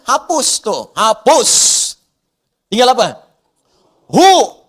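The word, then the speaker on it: هو: Kalau Anda wakaf membaca kalimat bahkan dalam bahasa Arab apalagi Al-Qur'an berhenti pada kalimat hua, maka wya enggak bunyi. Bacanya hu wnya enggak bunyi.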